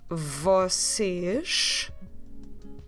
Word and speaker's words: vocês: We say vocês. It's basically the word você we've learned for formal you with S at the end, making that sh sound.